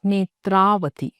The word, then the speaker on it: Netravathi: इफ you consider my name also, my name spelling if यू सी, इट इज an original name spelling NETRAVATHI, इट्स नेत्रावती।